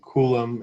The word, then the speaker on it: Coulomb: french um right see the b is silent there are a couple of french names in here so ampere for example is a french name coulomb is a french name